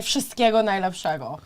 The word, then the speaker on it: wszystkiego najlepszego: Or you can say wszystkiego najlepszego. Wszystkiego najlepszego? Wszystkiego, I remember that part. Is wszystkiego? Lepszego. Lepszego. Very good. Great pronunciation.